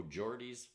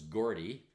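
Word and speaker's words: Geordie: O Jordy Byer and I thought it was Gordy and I went over to Scotland they said it's Jordy lad so I didn't know how to pronounce it but it's it's Jordy all right so let's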